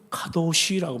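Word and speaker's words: קדוש: 방식임을 보여주고 있는 거예요.이 거룩은 히브리어로는 가도쉬라고 말해요.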